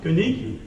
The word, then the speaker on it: Koenig: Non pas seulement parce que j'ai pu travailler avec Martin Koenig, je crois que c'est comme ça qu'il faut prononcer. Non, Koenig, voilà, pardon, à l'allemande.